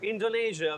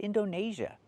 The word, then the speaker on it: Indonesia: Yeah, he said Indonesia. The country is not pronounced like that. It's pronounced Indonesia. We do not use the long A like day and say, we use the long E like green beans.